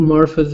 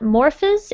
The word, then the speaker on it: morphs: The tadpole morphs into a frog. Okay. So it's actually it's kind of tricky to pronounce because it's just one syllable. It's not morphs. It's just morphs.